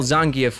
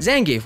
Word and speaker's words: Zangief: dick what what is zangeff game isn't it yeah yeah well zangief would be the correct pronunciation oh but zan gave works for player two like my win streak